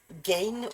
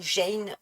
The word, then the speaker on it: Gein: se prononce, parce que c'est un G avec un E. Or, Georges, ça se dit je. Euh, et gorge, ça se dit g.